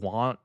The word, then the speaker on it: Wchu: Keshi dropped a new single called Wchu. Wu. It's spelled really weird. It's W ch Hu. Like it's almost like you're meeting someone and their name is Wchu.